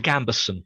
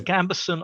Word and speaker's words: gambeson: garb which is the gabber how do you pronounce it uh the gambeson the gram i've got the gambeson i've got the shield um i i may